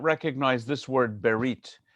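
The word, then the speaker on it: בְּרִית: You may not recognize this word berit. It's just another way of writing in English letters brit, which means covenant in Ashkenazi pronunciation, bris.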